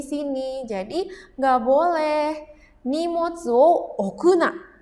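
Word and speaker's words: 置くな: Jadi enggak boleh nim okuna dibacanya o. tidak boleh ya okuna.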